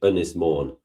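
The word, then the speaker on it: Ynys Môn: Unis mourn.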